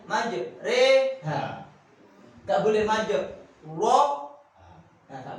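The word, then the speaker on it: مجراها: Majre, nggak majri, nggak majro. Pakai e.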